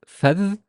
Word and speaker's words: فذ: Uh, Here it's فذ, فذ, فذ, فذ, فذ. The is stressed or doubled, so it's فذ.